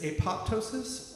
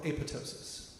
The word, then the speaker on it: apoptosis: Um and depending on where in the country you're from, it either inhibits apoptosis or aptosis. Don't care how you say it, but aptosis is that programmed cell death.